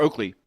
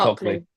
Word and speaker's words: Ockley: Ockley or Oakley. I think it is Ockley. Ockley. It's Ockley.